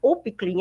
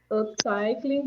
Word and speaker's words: Upcycling: É a Upclean, é isso, Rochelle? Falei certo? Upclean, de mãe para filha? Pronunciei corretamente? Como que pronuncia? Me ajuda? Upcycling de mãe para filha.